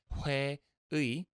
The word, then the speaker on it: 회의: Now, where this sound gets difficult, and which is often the case, is that it'll change its pronunciation to be more like just E when it's at the end of a word, like 회의, which is the word for meeting, as in like a company meeting.